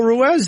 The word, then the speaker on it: Ruiz: saying your name right people are still saying I'm saying your name wrong we're doing Carl Ruez these days yes sir is that right or you going to tell me two months from now that's wrong too RZ I was calling him ruse forever and he wouldn't correct